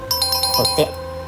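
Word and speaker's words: 鏝: 正解はコテ。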